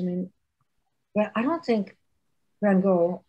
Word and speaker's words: Van Gogh: well, I don't think Van Gogh, or Van Hoff, as he used to say his name, ever sold a single painting of his own.